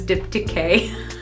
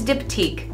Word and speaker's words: Diptyque: for a long time I thought it was dip decay but it's diptyque so just a little